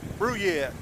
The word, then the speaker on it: Brouillette: here to the dam out here at uh bruyette see if you can spell that brew yet i learned people around here